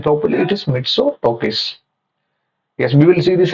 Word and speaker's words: Mitsotakis: Sorry guys, I can't able to pronounce the name properly. It is Mitsotakis.